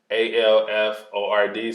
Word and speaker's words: Alford: was a kid but my last name is a-l-f-o-r-d so al ford and um you'll be